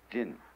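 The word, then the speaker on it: 仁: In Chinese, there's the word ren. I don't know how it's pronounced in Japanese. I write it backwards. How do you pronounce that in Japanese? Jin.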